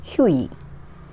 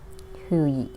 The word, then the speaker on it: Hughie: So we had to pronounce this word as Hughie. Hughie, G is silent.